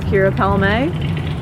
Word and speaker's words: Keara: You say your name because I don't want to mispronounce it. My name is Keara And, well, I guess, what do you do?